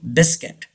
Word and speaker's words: biscuit: say this word treasure yes pleasure pleasure baby pronounce pleasure number three biscuit very easy biscuit but some people say this word biscuit you